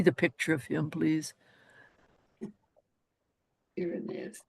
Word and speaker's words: Irenaeus: Irenaeus. Irenaeus. I've mispronounced it, no doubt. No, you're perfectly right.